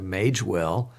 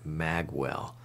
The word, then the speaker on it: Magewell: mage well nage w.e.l.l some people are pronouncing it mag well so i'm going to have to find out about that one but i'm going to continue to pronounce it mage well into your until I hear otherwise the mage well makes a